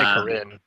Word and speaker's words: Karin: to pronounce it perfectly we say Karin Karin Karin that's it more EMP on the end the Rin Karin okay uh Karin I think